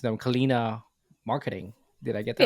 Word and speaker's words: Kalyna: You're the founder of forgive me if I'm pronouncing them, Kalyna Marketing. Did I get that Yeah. right? Or Kalina. But it's Kalyna.